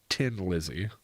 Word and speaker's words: Thin Lizzy: like a yeah yeah it's like a joke on the way the Irish people also pronounce a th like a 10 Lizzy yeah it was ten